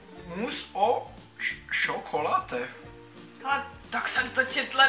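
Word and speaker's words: mousse au chocolat: a naleju do toho vyslovuje se to mus o čokolá Hele tak jsem to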